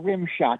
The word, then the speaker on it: Rimshodt: Samuel Rimshot. It's spelled RIMSHODT. Okay, that's because it was like rim shot, like a rim shot on a drum set, but that's a different thing.